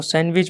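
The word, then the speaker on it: sandwich: तो सैंडविच बोला जाता है, सैंडविच को सैंडविच बोलते हैं, तो डी यहाँ पे साइलेंट हो जाएगा।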